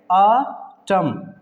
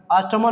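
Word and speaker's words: autumn: ठीक है, जैसे आटम, ठीक है, क्या पढ़ेंगे? आटम, आटमन नहीं पढ़ते हैं, कुछ लोग आटमन पढ़ते हैं जो कि गलत साउंड है।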